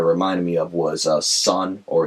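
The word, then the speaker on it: Sunn O))): me of was uh sun or it's pronounced in their logo Sun o in case uh yeah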